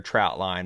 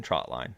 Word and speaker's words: trotline: trout line more than Trotline trout line is what people call it and growing up I realized that I was saying it wrong it's not a trout line it is a trot line I also said it